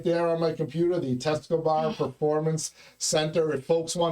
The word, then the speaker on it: Tescobar: forgot, I know that in Spanish, if you pronounce a letter, it's there. So Tescobar, Tescobar. Doesn't get any simpler than that, right?